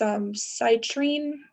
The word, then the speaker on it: citrine: I do remember seeing a malachite stone, a pyrite, and I think it's a CITRINE. I don't know how to pronounce that one. I think it's citrine. It's citrine, like this. Citrine.